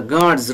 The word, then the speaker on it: God's: My tail is the God's room. God's, D, voiced consonant sound. And after that, S is pronounced as Z.